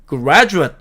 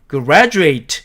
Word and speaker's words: graduate: 또 B번 같이 graduate 이렇게 철자하는 이 단어는 명사로서 졸업생, 형용사로서 졸업한이라고 쓰일 때는 graduate 이렇게 발음을 하고 동사로서 졸업하다로 쓰일 때는 graduate 이렇게 발음한다는 뜻입니다.